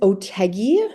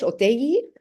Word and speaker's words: Otheguy: OT or in Spanish oi and I always tell people it's uh the easiest way to remember how pronounce it is to kind of ignore the H uh and it's it rhymes with Peggy for English speakers so